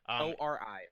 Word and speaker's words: Ori: Ori? Is that how you say it? Yeah. ORI, Ori.